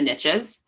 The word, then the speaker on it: niche: riches are in the niches. Um even though I like saying niche, it doesn't rhyme with riches.